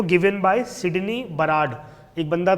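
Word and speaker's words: Burrard: हो given by Sydney बराड एक बंदा था उसने यह रिवीजन दिया था Sydney B यू आर ए D spelling होती है बोलते बराड है व बी यू आर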